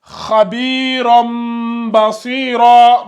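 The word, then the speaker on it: خبيرا بصيرا: Donc, ici, ça se lit Khabiram basira. Donc, ça s'écrit comme ça dans le Coran. Khabiram basira. Et ça se lit comme ça. Khabiram basira.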